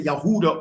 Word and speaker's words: Yehuda: Like the descendants of Yehuda or Huda, which is which is the true pronunciation of Judah.